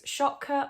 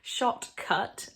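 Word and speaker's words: Shotcut: videos on i use shotka on my lap shot right okay i get told off for not pronouncing my tease shot cut on my laptop which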